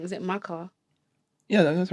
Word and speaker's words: Maka: I might pronounce it wrong. Is it Maka? Yeah, that's right. That's Yeah. the name, Mecca.